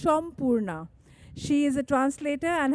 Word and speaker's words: Sampurna: And Sampurna writes books, teaches writing, wears silver, lovely silver may I add, talks fast and is actually pronounced Shampurna.